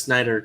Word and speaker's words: Snyder: Side note: his name is Snyder. Spell it right. Everyone, including our crew, calls him Schneider.